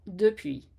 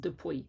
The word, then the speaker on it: depuis: Do you find yourself saying words like puis, P-U-I-S, then, or depuis, since, D-E-P-U-I-S?